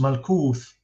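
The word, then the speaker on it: ܡܠܟܘܬܐ: And the Quran still has this a vowel, malakut, so it's 3 syllables, while in Syriac it's just malkuth, only 2 syllables.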